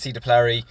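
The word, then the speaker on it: Sea de Plary: So Mark's selection there is C. de Plary, because you don't pronounce it S, Mark, it's French.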